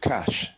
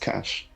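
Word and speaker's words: cache: pronunciation of the word cash. C A C H E, right? Which means a hiding place. Well, no, Lennox pronounced it correctly. Ce is pronounced cash because it's a French word.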